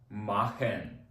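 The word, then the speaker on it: machen: дох дох знову ж таки це ха Але читається банально як ха І це буде так завжди наступне слово робити махен махен добре наступне з боко сполучення буде буква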